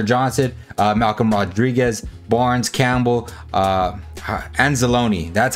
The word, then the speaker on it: Anzalone: We have Gardner Johnson, Malcolm Rodriguez, Barnes, Campbell, Anzalone.